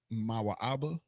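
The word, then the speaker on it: מואב: The next Chinese, which is Moab, Genesis 19 and 37, Mawa'aba, which means of his mother and father.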